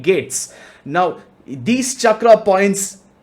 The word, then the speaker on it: chakra: Yes, it's called Chakra. It's not Chakra. It's more like Chakra.